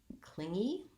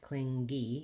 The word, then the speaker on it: clingy: and this word uh has the ng sound in the middle and the the first syllable stress so cling is long and e is short and the mg letters make just one sound in this word so you don't want anything like cling gee you don't want to